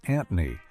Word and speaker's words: Anthony: Squiggy was initially called Anthony, pronounced Antony, and the duo performed as Lenny and Antony in their college sketches.